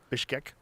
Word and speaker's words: Bishkek: Bishkek. Bishkek.